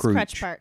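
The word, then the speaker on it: Krutch Park: I pronounce it Crutch Park, but I know other people. It is Crutch Park.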